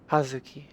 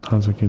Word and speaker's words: Hazuki: Just because as much as I love you, I would butcher the out of that name. Hazuki is my family name. You are closer than that. Hazuki.